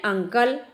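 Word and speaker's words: uncle: अब देखिए यहाँ प्रोनाउंसिएशन क्या है बच्चों, अंकल, तो आ से शुरू हो रहा है, अंकल, आ से प्रोनाउंसिएशन शुरू हो रहा है, आ की साउंड आ रही है, तो यहाँ पर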